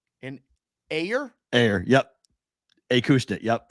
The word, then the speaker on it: Acushnet: Well, it looks like Acushnet. I think it's how you say it. I think it's Acushnet.